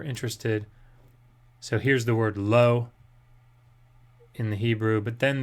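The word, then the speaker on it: לו: that was written, asher lo. This was written. And this word means not. This means to him. Oh, wait. You can't see my mouse. I forgot. This means to him and is pronounced lo.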